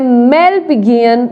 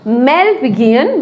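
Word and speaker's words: Malpighian: इन दोनों को मिला करके हम बोलते हैं मेलपिगियन बॉडी। क्या बोलते हैं, मेलपिगियन बॉडी।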